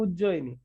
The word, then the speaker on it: उज्जयिनी: अवंती रो राजधानी ताको उज्जैन उज्जैन कर देले किंतु एक्चुअली तार प्रोनाउंसिएशन है उज्जयिनी ओके उज्जयिनी रे से